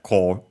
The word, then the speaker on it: corps: Corp, the one written, corpse, but written like that, but yeah, core, the pronunciation.